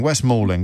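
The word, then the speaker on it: West Malling: How do you pronounce that? Christine, it's Ming. It is Mauling. West Mauling.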